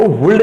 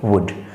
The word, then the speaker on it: would: तो जिस वर्ड के बारे में बात करेंगे that is कोल्ड वुड, WOULD। एल यहाँ पर साइलेंट होता है, कोई इसको वुल्ड नहीं बोलेगा, इट्स कोल्ड वुड।